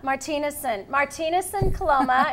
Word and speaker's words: Martinusen Coloma: And Cindy Martinusen Coloma, Martinusen Coloma is the correct way to pronounce it.